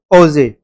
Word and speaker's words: Auger: So you can see it's pronounced as Auger, right?